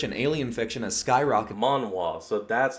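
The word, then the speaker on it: manhwa: done market research and alien fiction as Skyrocket monoir so that's how it's actually pronounced okay reason why I was wondering about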